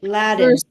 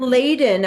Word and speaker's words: laden: yeah yeah you're right laddin laddin for Laden I think it's Laden Len yes Laden trying to say Aiden wrong because laddin would need two D's with it for it to be a short a sound so since there's only one D in there it's Laden Laden yeah burden burdened or